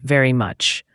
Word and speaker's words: very much: Second, very much. The V sound is important. It's a buzzing sound, unlike the W sound. and much has a short U sound, like in cup.